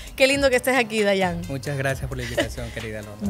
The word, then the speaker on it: Diane: gracias por la invitación se pronuncia regularmente Dayan aunque no tengo problemas pero alguien te ha dicho Diana en algún momento sí lo que no me gusta es que me digan Diana o Diana claro yo he visto